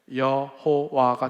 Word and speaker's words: 여호와: 에오 말를 붙였어요 원래 여호와의 이름 자음네 글자에가 아 애도나 애도나 할 때 에도를 붙여 보니까 발음이 어떻게 돼요 여호와가 된 거야 그니까 여호와는 원래 하나님 이름도 아니고 이상하게 하나님 이름 자음에 아도나이 모음을 붙여 놓은게 여호와가 돼 버린 거예요 그래서 그걸 영어로 번역을